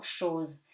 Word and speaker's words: chose: Il vous fallait autre chose. So, il, easy. Vous, do not pronounce the S. Fallait, AI becomes E, T is silent. AIO, autre, chose. CH becomes sh, so chose.